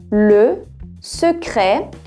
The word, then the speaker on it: Le Secret: Atenção à pronúncia do E. Le Secret. No final aqui o E já ficou bem aberto, né? Por causa do T. Já o T no final, ele não é pronunciado. Então fica Le Secret de la Potion.